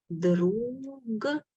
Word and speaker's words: друг: Друг, but we say друг instead of g. We say k.